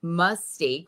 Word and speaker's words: Mystique: Because is it M-U-S-S Mystique? Or Mestique, M-E-S-S Stique? Or is it Moustique, which is how a lot of the, you know, sort of Frenchy say it.